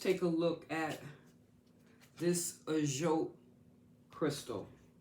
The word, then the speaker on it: Ajoite: All right, so let's first take a look at this Ajot crystal. And that's Ajoite, just in case I mispronounced it.